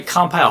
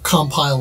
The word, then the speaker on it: Compile: about pronunciations then right we sound like we're all saying compile but I've heard some people say compile right like the verb right yeah like uh like if you're compiling code right I've heard people